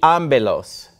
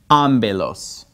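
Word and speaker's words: ἄμπελος: Ego imi I ambelos.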